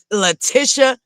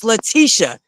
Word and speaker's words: Leticia: It's not my name, but every time I hear somebody pronounce it lat Leticia, that irks my nerves. It's Leticia. Short.